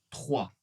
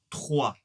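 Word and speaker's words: trois: 3. 3. Tout va ? Le O et le I ensemble font le son "wa".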